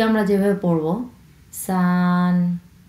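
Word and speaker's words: 三: তারপরে 3 আমরা যেভাবে পড়ব সান, সান, সান, কারণ এটা হচ্ছে প্রথম টোন, ফ্ল্যাটভাবে উচ্চারণ করতে হবে সান, সান।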